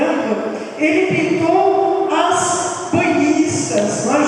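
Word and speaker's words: Ingres: Quem conhece Angra, aqui no Brasil lamentavelmente eles falam Ingrid, né? Mas a pronúncia correta é Angra.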